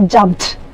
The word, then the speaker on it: jumped: no you do there you have to say jumped till sound should come jumped jumped you even